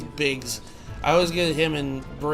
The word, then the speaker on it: Biggs: even I'm like I've always called him Briggs. I meant to say his name is Biggs.